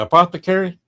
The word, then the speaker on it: apothecary: Apothecary. Apothecary. My husband remembered it by a pot to carry.